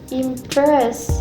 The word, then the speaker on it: impress: For example, word impress, syllable im and press, the stress placed in the second syllable, which is press. So it's pronounced like impress, impress.